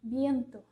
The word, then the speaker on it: viento: Porque vai ser importante na hora que você estiver falando o B para diferenciar do som do V, que é o B fraco. Então, por exemplo, viento.